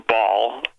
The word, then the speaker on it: Baal: that the temple of baal or ball like like pronounced at baal b-a-a-l was coming united states